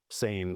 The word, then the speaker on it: seine: You might think of the river sen, but we actually call them sane s boats here.